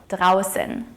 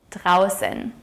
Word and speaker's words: draußen: the au here is pronounced as ow - ow and the funny looking b is pronounced as a harsh 's' sound like in the word snow. draußen - draußen Es ist schön draußen.